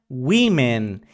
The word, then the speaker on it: women: es Woman que se escribe Woman pero se pronuncia wimen y no existe ni Woman ni womens Ok